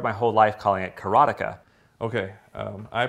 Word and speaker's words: Karateka: A lot of people say Karateka or Karateka. In Japanese, there's no stress on any syllable, so it would be Karateka, something like that.